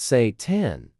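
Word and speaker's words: seitan: Satan and yes, before you ask, it's pronounced Satan and yes, people absolutely make the same joke every single time they hear it.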